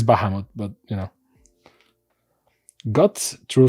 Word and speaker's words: Bahamut: So very very orov acolyte of bahimoth technically it's Bahamut but you know got